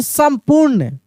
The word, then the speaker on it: संपूर्ण: बर्खास्त ठीक ना जैसे संपूर्ण अब लिखेंगे संपूर्ण संपूर्ण संपूर्ण संपूर्ण तो देखिए सम म का उच्चारण हो रहा है लेकिन म का उच्चारण कैसे हो रहा है तेजी से यानी आधा म है तो स आधा म